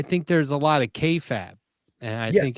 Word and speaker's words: kayfabe: like I I think there's a lot of kayfab and I think it's I'm pronouncing that right, aren't I, Bender? I always feel like I'm pronouncing Kab. Oh, kayfabe.